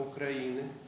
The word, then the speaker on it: Украины: И когда вот стал вопрос, куда же нам поехать, и мы решили, что в Харьков, потому что это восток Украины, с ударением на Украины, и потому что Черновцы – это западный форпост европейской Украины, а Харьков – это восточный форпост европейской Украины.